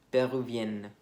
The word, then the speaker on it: péruvienne: En masculino termina un poco como si fuera una A, péruvien, y el femenino sí, más suena como una E, como está escrito ahí, péruvienne.